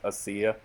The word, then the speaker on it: Asia: The Stendhal Syndrome is 1996, and it stars his daughter, Asia Argento, sometimes here called Asia Argento, but I believe it's pronounced Asia.